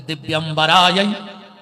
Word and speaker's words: दिव्यंबराय: कपाल माला फिर आदमी जल्दी जल्दी में बोल देता है दिगंबराय दिगंबराय ऐसे बोले दिगंबराय दिगंबराय नमः शिवाय च नमः शिवाय ये गलत उच्चारण है ये माता पार्वती और भगवान शंकर को हम हाथ जोड़ के बुलाते हैं तो इसका शुद्ध उच्चारण ये है अगर बोलो तो ये बोला करो कि दिव्यंबराय दिगंबराय इसका अर्थ ये बनता